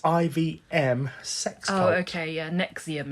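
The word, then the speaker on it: NXIVM: sex oh okay yeah Nexium is how it's pronounced Nexium yeah I only know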